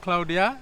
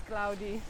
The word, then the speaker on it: Claudia: when it is cloudy, not Claudia, Yeah. when it is cloudy, this will be covered again. Yeah. Will be put This on. is the correct pronunciation of my name. Ah, yes, It's cloudy. cloudy. Like clouds.